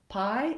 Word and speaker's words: pie: understanding how to pronounce pie. It's a fairly straightforward word, except that that vowel I, that diphthong, may not be a vowel that you're familiar with, that you're used to using, and just being able